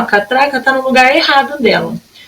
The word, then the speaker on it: catraca: Catraca. Epa, gente, catraca. Tem o som mais forte aqui, ó, no tra.